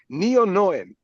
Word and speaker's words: NeonoeN: have a big question how do we say your name what in one moment you said it right before the the the show neon noen or neon yeah Neon noen it in when you translate in English but when you speak in our original language it's neon because we